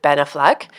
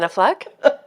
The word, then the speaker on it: Affleck: And You said that with an accent. oh, did I? How do you say it? Ben Affleck? Affleck? What's his last name? How do you say it? It's like you became French. I do not speak English very well. It's not my first language.